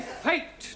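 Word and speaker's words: fête: the rule for example f e t e is also pronounced fate this is our feet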